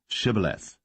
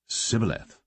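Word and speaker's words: shibboleth: said they unto him say now shibaleth and he said sybileth for he could not frame to pronounce it right then they took him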